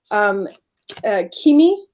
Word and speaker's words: Kimi: And so, like, for example, this card is talking about Kimi is how you pronounce it.